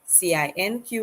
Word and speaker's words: cinq: CINQ is pronounced like the English word SANK, sank, the past tense of sink, to sink.